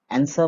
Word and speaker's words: answer: कहते हैं तो इनमें से हिस लेटर का उच्चारण नहीं होता तो यह आपको भी बल्कि देखिए आंसर आंसर बोलने से यह डब्लू पर प्रणाम सेशन नहीं